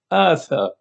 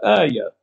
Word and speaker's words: آية: فالكلمة سريانية وتلفظ آثى بالثاء المثلثة وليس آية.